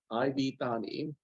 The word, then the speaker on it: iv: just image and video Ivy pronounced IV just like I how I said let me see if